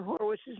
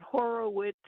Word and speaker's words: Horwitz: I just wanted to thank you and Austin for correctly pronouncing Spencer Horwitz's name. It's two syllables, just like Mackey, Walker. It's Horwitz, not Horowitz, which the broadcast team seems to be having difficulty with.